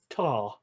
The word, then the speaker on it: ta: So her first word, she says, is tar. Now, we don't elongate the word as such.